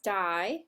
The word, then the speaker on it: di: Di means two. It rhymes with bi, like bicycle has two wheels.